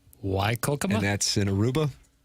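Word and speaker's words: Whycocomagh: You should see how it's spelled Y. It's spelled wh Y C O M A G H. Y Cook.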